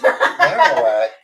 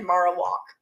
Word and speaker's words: Marowak: Marowak. Marowak. Oh, I said Marowok. My bad. I can't pronounce Cuz it's Maro because it's bone. Oh, because it's the marrow of the bone.